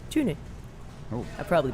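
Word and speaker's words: Tønder: We're starting in Denmark well, it looks like it's spelled Tonder, but they say Tune.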